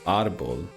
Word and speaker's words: árbol: So arbol, because it has to be on the A, right?